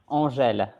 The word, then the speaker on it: Angel: But his name is actually, how do you pronounce it? Angèle. But Angel. many people call me Angel.